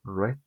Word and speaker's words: read: Es el mismo verbo, no cambia en nada, lo único que va a cambiar es su pronunciación. Antes dije read y ahora voy a decir como el color rojo, red.